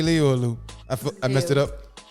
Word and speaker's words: Liu: Did I say Leo or Lou? I I messed it up. Leo.